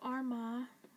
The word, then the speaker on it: Armagh: And then you've got Armagh, but it's spelled as A-R-M-A-G-H.